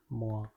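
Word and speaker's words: moins: The pronunciation is moi.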